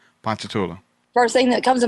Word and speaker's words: Ponchatoula: I'm like Ponchatoula. Yes. Ponchatoula.